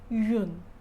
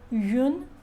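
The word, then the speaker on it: une: Pronunciation is yun, U-N-E. For example, gomme, gomme. So in French, gomme is an eraser. In French it is feminine. So we are using article U-N-E. Yun gomme, yun gomme.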